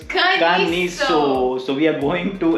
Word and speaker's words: Caniço: So that's how they pronounce. Sorry, it's Kaniko. Oh, sorry, it's Caniso. So we are going to explore the small little town of Caniso today.